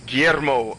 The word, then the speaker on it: Guillermo: say that name guillermo let me actually say it in spanish instead of like a gringo because then i can pronounce it guillermo um it wasn't he